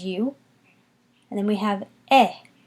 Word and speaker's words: et: And then we have eh. Eh, again, silent T at the end.